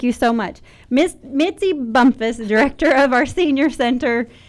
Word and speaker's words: Bumphus: Bumphus. I see that H in there, and so I wasn't sure exactly how to pronounce that, but I thought, I think it's an sound.